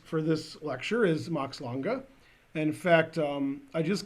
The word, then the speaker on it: Lange: so I would and he said um he said oh is there an e at the end I said yeah and he said okay Max longa and I said oh